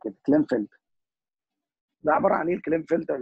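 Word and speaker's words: Klinefelter: قال والله الميل ان يكون عنده كونجنتال ديزيز، مرض اسمه كلينفلتر او بيسموه كلاين، هو بيتنطق كده كلينفلتر.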